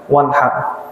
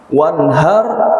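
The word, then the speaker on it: وانحر: Hati-hati cara baca fasholli li rabbika wanhar. Ada yang bacanya misalkan Bapak baca surah Al-Kautsar, bacanya pakai hak besar apa hak kecil kira-kira? Wanhar apa wanhar? Pak Haji pakai apa baca? Hak kecil, hak besar? Hak kecil. Ya. Kalau hak besar beda arti nantinya.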